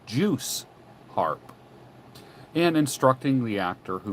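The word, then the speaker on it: Jew's harp: to almost extravagant lengths he objected to the customary pronunciation of Jews harp insisting that the word should be juice harp and instructing the actor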